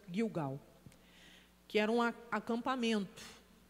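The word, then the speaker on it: Gilgal: A gente lê Gilgau, mas a pronúncia Guilgau, que era um acampamento.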